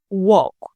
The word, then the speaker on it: walk: For example, walk. The I is silent. The L is silent.